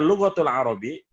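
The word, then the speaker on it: اللغة العربية: adalah luwak tool Arobiyah lughotul Arobiyah kalau kita ngomongnya lughotul Arobiyah Iya memang harus dibacanya kayak gini muda pun dipilih tapi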